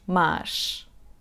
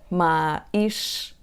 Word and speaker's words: mais: The third word is " mais /majʃ/". It is written "mais". It means "more". The word "mais" is pronounced with /a/ open /ma/, and then we have the sound /j/: /majʃ/ not to say : /ma.iʃ/ with that pause between